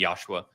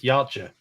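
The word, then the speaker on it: Yautja: culture of of the Yosua or Yosua. How do you pronounce it? Uh, it's actually the from what I heard from the guy that actually wrote the book, it's Yacha.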